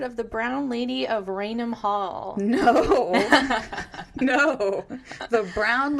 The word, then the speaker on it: Raynham: Okay, yeah, because it's spelled like Raynham. So I want to say Raynham, but I'm like, no, don't say that. Raynham. It's Raynham. Raynham.